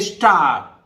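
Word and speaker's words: star: जैसे पहला ही देखिए स्टार, अब हम पढ़ते तो स्टार है लेकिन अंत में इसको नहीं पढ़ेंगे स्टार, मतलब ऐसा लगेगा कि हम आर बोलना चाह रहे हैं पर बोल नहीं रहे, स्टार। ठीक है, स्टार मतलब इस तरह से लिखेंगे जी कि स्टार, पर रा नहीं बोलेंगे, आर बहुत फेंट मतलब तारे।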